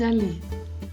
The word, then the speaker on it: allée: But if it's a woman who is speaking, she would say je suis allée, and she would add at the end a E. We don't pronounce it, it doesn't make a difference, but when it comes